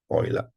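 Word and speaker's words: Euler: um oil equation okay let's pronounce oil the oil like this this how they pronounce the name oila um we mentioned that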